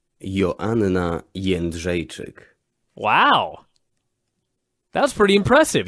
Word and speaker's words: Joanna Jędrzejczyk: This is according to Google how you pronounce Joanna's last name. Joanna Jędrzejczyk.